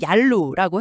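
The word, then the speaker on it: Yalu: 네, 이 논문에 따르면 압록의 만주어 발음이 얄루라고 해요.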